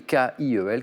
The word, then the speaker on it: Kiel: le canal de Kiel, K-I-E-L, qui se prononce, et vous l'avez bien prononcé, Christian, Kiel, que dire?